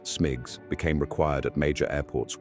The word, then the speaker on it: SMGCS: Airport surface movement guidance and control systems, SMGCS, pronounced SMIGs, became required at major airports worldwide.